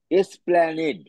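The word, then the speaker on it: Esplanade: এল এন এ ডি ই কি হলো উচ্চারণটা উচ্চারণটা কি হলো এস প্ল্যানেড এস প্ল্যানেড ব্র্যাকেটে লেখো স্প্যানিশ ওয়ার্ড স্প্যানিশ ওয়ার্ড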